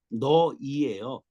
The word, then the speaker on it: 네: 손 내 손 아 자 발음법을 가르쳐 드릴게요 네는 너이에요 한 번 따라주세요 세 번 너이 너이